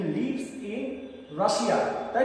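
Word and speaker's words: Russia: আচ্ছা মজার ব্যাপার হচ্ছে এই যে শব্দটা বললাম রাশিয়া, যেটা নাউন, এর উচ্চারণ আমরা বাংলা বলি রাশিয়া, কিন্তু ইংরেজিতে এর উচ্চারণ হবে রাশা।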